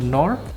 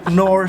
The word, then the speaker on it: Knorr: we would pronounce it in German, and Yeah. in English, of course, the K would be muted.